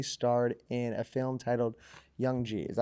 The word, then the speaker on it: Young G: know you recently starred in a film titled Young G is that how you pronounce it young yeah g Young G which